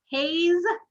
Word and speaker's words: Hay: asked you how to say her name louise hayes hey just h-a-y okay okay so you read